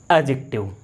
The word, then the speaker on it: adjective: क्या बोलेंगे इसे, एडजेक्टिव, डी को साइलेंट रखेंगे, एडजेक्टिव।